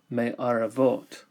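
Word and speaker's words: מערבות: So the reason there's not a dagesh is because the shva must be vocal, and that takes away a dagesh lene. Therefore, we would pronounce this word with a vocal shva, me aravot.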